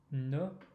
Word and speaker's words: ne: Ne rhymes with de. It's the same vowel, different consonant.